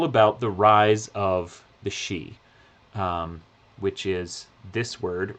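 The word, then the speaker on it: Sidhe: example is all about the rise of the xi which is this word right here it doesn't look like it's pronounced G but it's totally pronounced XI and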